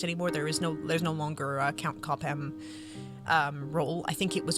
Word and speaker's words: Cobham: I said his name wrong. I said Cobham. It's Cobham. Viscount Cobham.